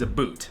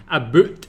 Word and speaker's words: about: sometimes comes out as a boot now that that's what I've heard before like it's a bit of a stereotype about Canadians that they say a boot rather than about when they say the